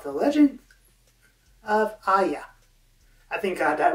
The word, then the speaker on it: Ahya: about an upcoming book called the legend of ayah i thank god that right written by matthew calvis thought i mispronounced your name that's all right you actually